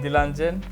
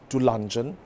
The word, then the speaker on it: Dilanjan: I'm happy to have Dilanjan. Is it correct? No, actually not. It's Dilanjan.